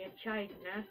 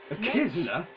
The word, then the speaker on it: echidna: But then there are words like mech, character, echidna. Character, echidna. It should be pronounced like that, but it's not. It's pronounced like CK.